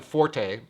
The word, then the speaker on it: Forte: So, big surprise, the 11 Forte, or Fort, is, look it up, you can win bar bets by betting which one is the preferred pronunciation. But let's go with Forte.